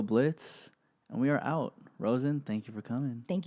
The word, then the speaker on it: Rozen: Rozen is spelled like frozen without the F, so ROZEN.